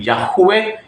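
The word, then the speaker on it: Yahweh: sabihin mali po yon So ang tama po ay yahwe yun po ay masculine sound Yan po ay mula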